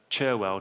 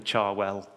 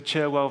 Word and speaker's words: Cherwell: We call it the Charwell once it gets to Oxford. It's odd because it's got an E in it.